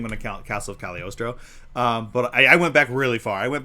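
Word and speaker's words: Cagliostro: Well, it's cuz I genuinely thought, you know, it was before I realized it was pronounced Caliorostro. Yeah. But like the G is silent for some reason.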